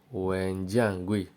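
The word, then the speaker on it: 文件柜: put all your books now fire cabinet is pronounced as Wen Jiang GUI when Jiang GUI when John GUI number 10.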